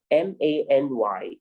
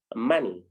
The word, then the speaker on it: many: then you see m m a n y do not be confused it is pronounced many not money do you understand yeah